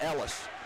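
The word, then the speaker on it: Eelis: Ellis spells his first name E-E-L-I-E-S, but pronounces it Ellis.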